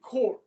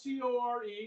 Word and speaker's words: corps: The CCC, the Civilian Conservation Corps. That's CORPS, people. Corps, like Marine Corps, like Peace Corps. It's spelled CORPS, not CORE, not CO period, not corporation.